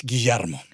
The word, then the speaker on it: Guillermo: give the message, It's Guillermo. Argentinian pronunciation is very particular, no in South America, Mm-hmm. The double L is she. Uh-huh. Like another example could be playa, it can be sisha. Mm-hmm. Guillermo, it is part of that LL.